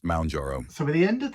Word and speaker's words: Mounjaro: Is it Moun or Mon? Mounjaro is pronounced Mounjaro.